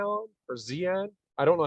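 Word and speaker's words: Zeihan: I want to really throw out there, Peter Zion or Zian. I don't know how to pronounce his last name. Peter Zihan.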